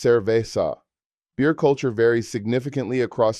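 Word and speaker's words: cerveza: Beer is cervesa, pronounced cervesa.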